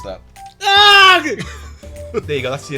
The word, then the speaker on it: Aaaargh!: How do you pronounce that? Aaaargh!